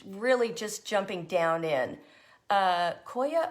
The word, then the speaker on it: coir: Koya or Coir? It's like foyer.